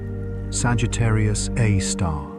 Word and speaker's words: Sagittarius A*: At the center of this glowing metropolis is Sagittarius A. Times pronounced Sagittarius A star, a super massive black